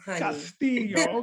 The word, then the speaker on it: Castillo: right did i say your name right castillo castillo okay i gotta work on my my uh you know pronunciation advice me espanol so uh man first